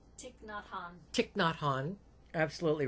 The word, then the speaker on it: Thich Nhat Hanh: I cannot pronounce his name right. Thich Nhat Hanh. Thich Nhat Hanh.